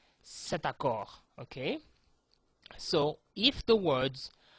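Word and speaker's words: cette: feminine and singular you will need to use set c t set this is used to indicate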